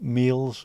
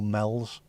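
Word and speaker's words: Meols: Which is why there's loads of places up here called meals or mells, M-E-O-L-S. That means dunes. And in Southport it's pronounced meals. In Formby it's pronounced mells.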